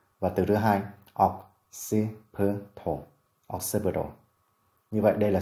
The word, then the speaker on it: occipital: tiết thứ nhất, còn trọng âm của occipital rơi vào âm tiết thứ hai. Từ đầu tiên occiput và từ thứ hai occipital, occipital.